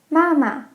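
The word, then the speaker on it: 妈妈: Mom is very easy. We learned this before. Mama. Mama. Dad is also very easy. Baba. Baba. For all of these, it's the same syllable twice. Mama, Baba.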